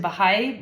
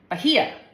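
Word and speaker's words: Bahía: My oldest son served two years in Bahay Blanca, Argentina. Bah Bahaya. I don't know how to say that. Bajia. Bajia. I was pronouncing sorry Arabic way.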